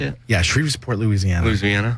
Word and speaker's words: Shreveport: Yeah, Shreveport, Louisiana.